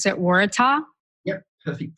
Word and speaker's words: Waratah: flower behind you which is that which you pronounce that Waratah yep perfect pronunciation and it's actually the the